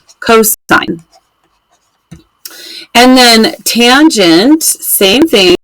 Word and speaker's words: cos: it just si N and then cosine we just write cos but we say that cosine and then tangent same